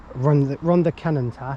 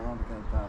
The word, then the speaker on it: Rhondda Cynon Taf: So it's the village of Pembroke Iver in Rhondda Cynon Taf in the Rhondda Cynon Taf, I think that's how you say it. Yeah, Rhondda Cynon Taf.